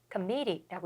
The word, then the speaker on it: committee: 발음은 committee라고 이쪽 부분을 좀 세게 읽으면 되고요.